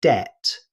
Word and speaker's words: debt: Although it's spelled with a B, native speakers simply say debt. The B is completely silent.